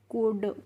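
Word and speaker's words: could: तो इसको हम पढ़ते हैं कुड। कुल्ड नहीं पढ़ते हैं। यहां पे भी जो एल होती है वह साइलेंट रहती है।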